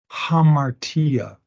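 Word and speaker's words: ἁμαρτία: Epsilon Alpha AA Etc if the breathing's rough the word is pronounced as if there was an H now come on back up ha hamartia for sin as a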